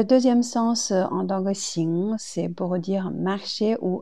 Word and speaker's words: 行: Xing, c'est deuxième ton.